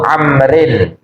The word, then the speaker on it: Amr: tirukan Bismillahirrahmanirrahim amibniaibin ya Jadi kalau Ain Mim ada wawunya itu Amrin tapi kalau tanpa Waw belakangnya itu Umar ya Amr dan Umar walaupun hurufnya sama tapi beda bacanya untung untuk diberi harakat